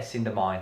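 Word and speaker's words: Cidhna Mine: Cinder Mine.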